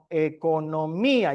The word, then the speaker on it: economía: Voy a ponerlo aquí como a lo mejor se queda economía. Lleva acento en la I.